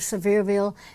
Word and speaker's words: Sevierville: I loved everything about our little town of Sevierville, Tennessee, and the people.